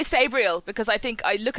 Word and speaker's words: Sabriel: i've always pronounced it sabriel same i say sabriel because i think i look at it and it go oh it's just like gabriel but with an s right but i'm overruled